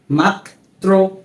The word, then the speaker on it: মাত্র: গ্রন্থ প্রথম এবং ব্রত দ্বিতীয় নিয়মটি হচ্ছে যখন কোন শব্দের মধ্যে বা শেষে র ফলা ব্যবহৃত হয় সেক্ষেত্রে সেই বর্ণটির উচ্চারণ দীপ্ত বা দুইবার হয়ে থাকে উদাহরণ হিসেবে তীব্র মাত্র আমরা যখন পড়ছি এরূপ মনে হচ্ছে না যে এই মাত্র এর মাঝখানে আরো একটি ত রয়েছে যেমন মাত মাত্র এরপর